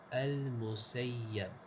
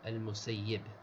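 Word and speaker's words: المسيب: this word, it's bimadmuma, the very first letter, the mim has a dhamma. Fasin, after the mim is a sin. Faya, and after the sin is a ya. Mushaddada, the ya has a shadda. Maftuhatain, both letters, the ya and the sins, both the ya and the sin have fathas. So it's al-Musayyab. وقد يكسر الياء. Some say al-Musayyib.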